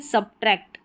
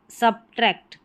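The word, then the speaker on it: subtract: यहाँ पर नोट कर रखा है कि सब्ट्रैक्ट, सब्ट्रैक्ट। ठीक है, यहाँ पर बी साइलेंट नहीं है, बोला जा रहा है वही सेम कि सब्ट्रैक्ट। ठीक है, इसको अगर बी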